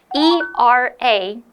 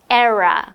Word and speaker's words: era: boom the new era of Super Sonic flight e r a how do you pronounce it era era but you could also say era oh I think era is a little bit